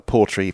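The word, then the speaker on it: Portree: the website for the build is at uh porry passive house.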